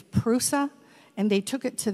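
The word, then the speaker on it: Προύσα: bursa in asia minor pronounced in greek it's prusa and they took it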